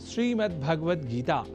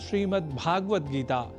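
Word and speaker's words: श्रीमद्भगवद्गीता: जैसा कि मैंने उच्चारण किया, श्रीमद् भगवद गीता, जिसे अनवधानतावश हम श्रीमद् भगवद गीता या श्रीमद् भागवत गीता या भागवत गीता कर जाते हैं, जो सर्वथा अशुद्ध है।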